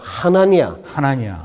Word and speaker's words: 하나니아: 아나니아가 아니고 하나니아.